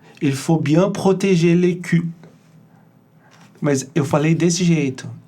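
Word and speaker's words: cou: É cu. Cu. Mas com essa pronúncia.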